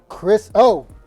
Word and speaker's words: KrisO: We have the main man, going by the name of KrisO.